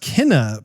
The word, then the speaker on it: Kena: pretty interested in, and it's, I believe it's pronounced Kena, Bridge of Spirits.